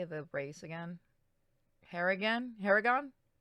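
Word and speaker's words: Harengon: Harrigan? Harrigan? Harangon.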